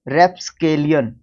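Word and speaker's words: rapscallion: रास्कल, रोग, और raps, रैप्सकेलियन, रैप्सकोलियन या कॉलियन या केलियन, जो भी प्रोनाउंस करना चाहें आप इसको।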